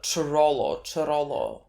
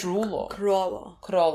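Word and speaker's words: Chrollo: it's coming, but like nothing sounded like Chirolo. I think they said Krolo. I think like if I heard correctly, because like I thought it was gonna be Ch.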